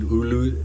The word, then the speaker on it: ulu: I pronounce it ulu.